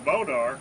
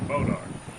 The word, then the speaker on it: bois d'arc: That's the hardest wood in the United States, bodark. It's spelled boise, B-O-I-S-E, D-A-R-C. That's a French word.